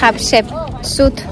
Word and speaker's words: Hatshepsut: Hatshepsut.